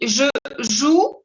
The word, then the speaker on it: joue: Tu dis je joue, no se pronuncia la E, se pronuncia hasta la OU y es U, como la U en español. Je joue O, la AU,